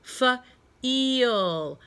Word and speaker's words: feel: We talked about the rule when there's two vowels in a word. The second vowel is silent. Shh. It does not say a word, but it gives its vowel power to the vowel in the front. So the E says its name.